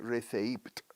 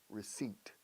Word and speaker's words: receipt: Se escribe receipt con P muda, ojo, receipt, el recibo.